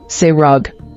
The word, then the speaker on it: Serug: Ru 26 suuk origin Hebrew ESI meaning brunch pronunciation srog Bible verse Genesis 11:20 ESV when Ru had